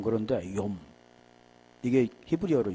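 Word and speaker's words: יום: 발음이 좀 그런데 욤. 이게 히브리어로 욤이죠.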